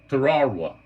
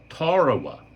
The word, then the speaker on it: Tarawa: The only one I have is the Tarawa, and that's the way it's pronounced. Tarawa. It's not Tarawa, it's Tarawa.